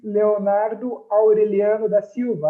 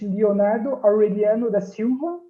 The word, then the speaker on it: Leonardo Aureliano da Silva: My full name is Leonardo Aureliano da Silva. I pronounce it in Portuguese. English, Leonardo Aureliano da Silva.